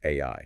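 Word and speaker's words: 愛: Yes, that's the word pronounced AI, right?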